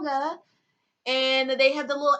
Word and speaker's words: manga: But one key thing that everyone should remember is that it's pronounced manga. A lot of people say manga and it's wrong.